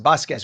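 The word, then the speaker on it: Vazquez: VA v a z quue e z circus v a z q e z but it's pronounced basquez which means your family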